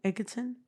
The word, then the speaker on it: Egerton: Taron Egerton, I think is the way you pronounce it. Egerton.